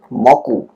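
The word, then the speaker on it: 木: Misalnya saya kanji pohon ini itu dibaca secara kunyomi adalah ki sementara ong yominya adalah moku.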